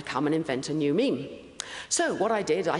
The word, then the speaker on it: meme: And he called this uh the meme uh to rhyme with gene and to mean it comes from the Greek for that which is imitated.